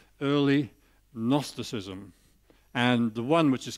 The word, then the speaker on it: gnosticism: and gnosticism what's that it's got a silent g in front of it gnosticism it's a sort of